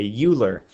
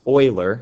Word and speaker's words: Euler: his name and people always want to say Euler it's actually pronounced Euler it's German so that's why it's given the